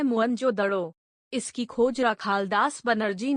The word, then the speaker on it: मोहनजोदड़ो: जिले में स्थित है मोहन जोदड़ो शब्द का सही उच्चारण है मुं जोदड़ो इसकी खोज रखलदास बनर्जी